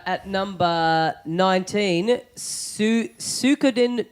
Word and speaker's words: Suikoden: It's Suikoden.